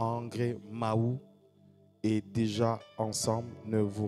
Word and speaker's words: Mahou: J'ai bien prononcé, je crois que cette fois-ci, Mahou, je disais Mao.